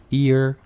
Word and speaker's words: ear: 그럼 제가 먼저 해보면요 귀라고 할 때는 e 그다음에 yar이라고 할 때는 e 이렇게죠 번갈 해 볼까요 Ear e e year 이렇게 됩니다 나생 한번 해 볼까요